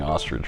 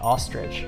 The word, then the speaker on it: ostrich: don't think you're pronouncing ostrich right how do you say it ostrich you're saying it like r i d g e it's i c h ostrich is it wrong let